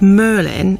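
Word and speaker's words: Mrlyn: Bailey's but this isn't it's called Merlin and it's spelled m r l y n and it's from Welsh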